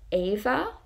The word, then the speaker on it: Eva: most people would say in the United States or English-speaking countries, because they would spell that with the letter A instead of the letter E. But Ava, E-V-A in the Netherlands is very common.